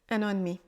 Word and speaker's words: un an et demi: 1 an et demi 1 an et demi une toute petite contraction le E de de disparaît et comme on parle rapidement le D est très peu prononcé 1 an et demi